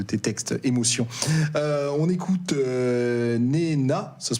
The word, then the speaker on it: Nena: On écoute Nena, ça se prononce comme ça ?